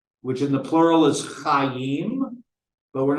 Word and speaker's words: Chai: And to note, you can't just pronounce CHY, right? So you got to add a vowel in there somewhere. And they chose the vowel, the ah vowel, to make it Chai, which in the plural